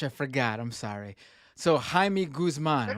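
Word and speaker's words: Jaime Guzmán: was like the idea Jamie Guzman we don't pronounce the J in Spanish I forgot I'm sorry so Jaime Guzman right right I totally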